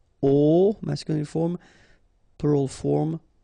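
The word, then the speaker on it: aux: at all and then a plus Le will become o AIX but then remember that phonetically it's O Okay so that's the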